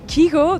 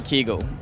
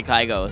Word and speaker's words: Kygo: really like it kygo other people say kiko there's even kugu so uh please help us it's it's two ways because like in in norwegian you say kegel and that's like all my friends that know like they're calling kegel but in english we say kaigo so like i'm very